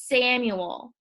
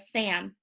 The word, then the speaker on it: Samuel: on Wednesday on Thursday I say the frog's name wrong it's Samuel I try to get away with Sam but it doesn't work Friday is no better